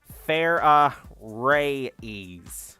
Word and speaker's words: Farah Reyes: And how is that pronounced? Like how I just said it. Fair ray.